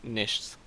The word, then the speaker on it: Nichts: I'm going by Star, and my channel name is Nichts, which is how you pronounce it. It's German.